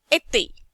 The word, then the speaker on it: été: The pronunciation of E becomes A. Été, étudiant, like that.